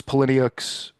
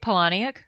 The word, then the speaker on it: Palahniuk: This was Palahniuk's, how do you say that name? I say Poloniac. Palahniuk.